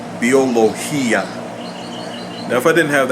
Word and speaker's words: biología: as what occurs in biología now there the hi is a strong Bell because there's a stress on the I and therefore it is its own syllable biología now if I didn't